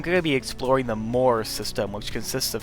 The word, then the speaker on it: Mor: Together, they're the Mor system, as in more boosters, more planets, more things. It's a little hard to pronounce since Mor, the planet, and Mor as in the whole binary system sound exactly the same in pronunciation, so fortunately it may